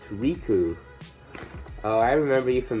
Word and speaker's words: Riku: dear beagle in red my name is Riku pronounced Riku oh I remember you from Madeira steel box